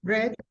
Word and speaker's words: read: blah a novel last week how do you pronounce yeah red red very good last week we read a